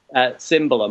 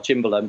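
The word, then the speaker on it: cimbalom: for him, which had Cymbalum or Chimbalum, depending on your pronunciation, which is then also featured in Hans Zimmer's Sherlock Holmes score himself.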